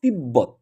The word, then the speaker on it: তিব্বত: কারণ যেহেতু ম এবং ব এর সঙ্গে বফলা থাকলে তার উচ্চারণ হবে ওই নিয়ম অনুযায়ী তিব্বত।